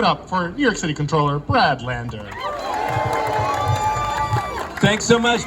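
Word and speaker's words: comptroller: a Citywide elected official he's the current controller of New York City that's how you pronounce it by the way and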